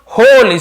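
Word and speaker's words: whole: before बोलते हैं before होली से होल पड़ेगा डब्लू साइलेंट होता है कि लिखते जरूर है खोया ने पूरे ऑफ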